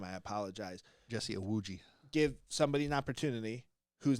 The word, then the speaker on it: Iwuji: And this team, owned by Emmett Smith and Jesse Umawata, and if I butchered your name, I apologize. Jesse Iwuji.